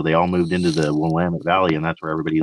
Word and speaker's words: Willamette: i said i said we'll admit and it's like it's willamette yeah anyway however they pronounce